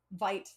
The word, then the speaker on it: Vite: It's pronounced like Vite, not Vite. So it's like, it means quick. And you might think of Vite like alive, but it's Vite.